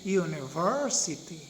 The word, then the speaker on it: university: dinaman university we say university see so we say that the third syllable univer verb i don't know if you heard that university so the third syllable is stressed or accented where we put the